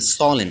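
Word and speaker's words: solemn: Hemanta and ড্যাম ড্যাম মানে অগ্রাহ্য করা এন্ড সলিন মানে একাগ্রতা এন্ড কলম মানে হচ্ছে কলম এরপরে ফি যে লেটারটি বিভিন্ন ওয়ার্ডে সাইলেন্ট থাকে সেটি নিয়ে আলোচনা করবো চলুন সামনে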